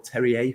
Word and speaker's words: Terrier: is the wren's forward martin terrier or terry a potentially if uh if you want to use the the french pronunciation which i assume you